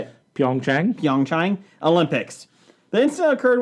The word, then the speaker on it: Pyeongchang: Pyeongchang.